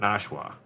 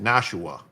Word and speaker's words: Nashua: I said Nashua, not Nashwa. I didn't say Nashwa. I said Nashua. Three syllables. Yeah.